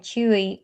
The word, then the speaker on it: Chuy: We're calling them Rose and Chewy, but on TikTok it's Queen Rose and King Chewy over on TikTok.